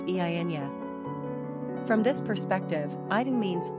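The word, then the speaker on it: Eithne: Alternately, Edna is considered an anglicized form of I, an Irish and Scottish Gaelic girl's name, pronounced Eynya.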